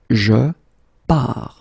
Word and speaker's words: je pars: So the first form will be je pars, okay? Remember, you put this S, you don't pronounce it.